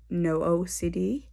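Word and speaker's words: NOCD: very beneficial to me is an app called no ocd basically what it is is it's spelt n-o-c-d um and it's a community um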